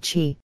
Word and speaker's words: qi: Acupressure is rooted in the concept of qi, pronounced qi, the vital energy that flows through the body along meridians or energy pathways.